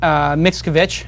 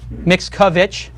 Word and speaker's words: Mickiewicz: We have a great guest this week, Mickiewicz. I pronounced it correct? Yes, you did. Mickiewicz.